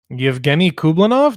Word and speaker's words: Yevgeny Kublanov: It's pretty much as you would pronounce it if you were speaking clean English.